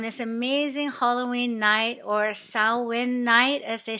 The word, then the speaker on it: Samhain: amazing halloween night or sao win night as they say in the irish gaelic language it's spelled samhain s-a-m-h-a-i-n but pronounced sao win i'm going to talk